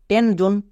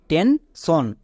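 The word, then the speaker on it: tension: ওয়ার্ডটিতে কিন্তু এটা ভুল এর উচ্চারণ হবে টেনশন কেন কারণ এস এর আগে এন কনসোনেন্ট তাই এস এর জন্য তালি বসতে হচ্ছে কি হচ্ছে টেনশন নেক্সট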